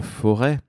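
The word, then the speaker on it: Forez: magnifique territoire qui est le forêt hein on ne prononce pas le Z si vous m'avez bien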